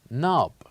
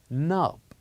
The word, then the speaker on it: knob: you can listen here the k is silent we don't pronounce k so we pronounce this word as nub nub very good let's